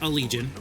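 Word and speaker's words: Allegaeon: seen it it's a-l-l-e-g-a-e-o-n but it's pronounced a legion I found out about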